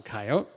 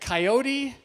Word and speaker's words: coyote: now in science uh scientists do not like to end words with a long vowel sound so we usually say coyote okay coyote sounds a